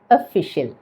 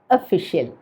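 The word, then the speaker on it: official: അപ്പോൾ ഏതർത്ഥത്തിലാണ് ഉപയോഗിക്കുന്നതെങ്കിലും ഇതിന് ഉച്ചാരണം ഒന്നേ ഉള്ളൂ, ഒഫീഷ്യൽ, ഒഫീഷ്യൽ. അപ്പോൾ ഈ വാക്ക് തുടങ്ങുന്നത് ഓ വെച്ചാണ്. അതുകൊണ്ട് തന്നെ നമ്മൾ ഒഫീഷ്യൽ എന്ന് പറയാനൊരു സാധ്യതയുണ്ട്. പക്ഷേ അവിടെ ഓ എന്നൊരു സ്വരം വരേണ്ടതില്ല കേട്ടോ, ഒഫീഷ്യൽ എന്ന് പറഞ്ഞാൽ മതി.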